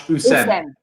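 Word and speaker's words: Houssem: Just first, Sophie, I know you're confident with the Hussein, but you mustn't pronounce the H. So it's very much Hussein.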